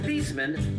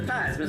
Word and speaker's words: Theismann: Joe Theismann's last name is actually pronounced Thiesman, but a marketing guy at Notre Dame got him to change it to Theismann, so Theismann rhymes with Heisman. Theismann, Heisman. Joe came in second that year to Jim Plunkett.